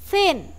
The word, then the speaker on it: thin: Thin, lidahnya dijulurkan ke depan terusan digigit.